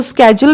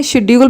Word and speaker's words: schedule: इसको schedule भी बोल सकते हैं, schedule भी बोल सकते हैं, schedule भी बोल सकते हैं, आपकी चॉइस है, pronunciation आप अपने अकॉर्डिंग देख लीजिएगा।